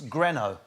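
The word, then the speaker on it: Grineau: what is the popularity it's easy to copy it's greno but it's spelled g-r-i-n-e-a-u that's how i was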